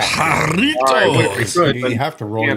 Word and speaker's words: Jarritos: Do you roll your R with that one as well? Yeah. Jarritos.